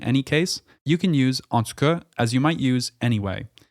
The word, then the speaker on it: en tout cas: Meaning, in any case, you can use en tout cas as you might use anyway. This is used in Standard French, but in Quebec you'll often hear this pronounced en tout cas.